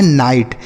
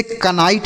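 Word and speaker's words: knight: आई जी एस टी तो देखिए यहां पर के साइलेंट है बच्चों इसको नहीं पढ़ेंगे एन आई को पढ़ेंगे नाई और जी एस टी को पढ़ेंगे ट तो लिखा है नाइट इसे कनाइट नहीं पढ़ेंगे यहां पर के जो है साइलेंट होता है ठीक है के और एन अगर एक साथ लिखे रहते हैं तो एन सॉरी के साइलेंट होता है आगे एच ई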